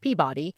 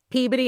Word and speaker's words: Peabody: Most people outside of New England would pronounce it Peabody.